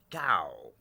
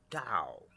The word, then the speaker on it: Tao: with a T, but it should be a sound like a T with a D. Tao, Tao.